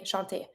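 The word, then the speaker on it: chante: shant don't pronounce the but keep in mind that every time you have a e you pronounce the little letter that's just ahead of the E so I do pronounce my T but I don't pronounce the E same thing s mute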